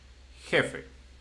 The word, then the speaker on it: jefe: This is just a coincidence that it's the first syllable, but it's the one before the last one. That's why jefe.